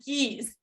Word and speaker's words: Gies: It's actually geese. The same as animal.